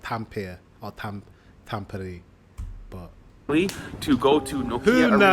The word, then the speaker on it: Tampere: Right, today we are taking the train to Tampere. I think I'm pronouncing that correctly.